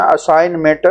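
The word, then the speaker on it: assignment: मैंने अपना असाइनमेंट मुकम्मल कर लिया है। तो यहां पे असाइनमेंट में जो जी है लिखने में है लेकिन पढ़ने में नहीं है।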